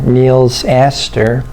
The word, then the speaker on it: Nils Asther: at Neil's ather uh it's a little hard to pronounce his name first name n LS and last name is a s t h e r Neil's Aster plays the Suave count